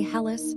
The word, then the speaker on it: Hellas: The locals say Hellas or Hellas in everyday speech, and the full name is the Hellenic Republic.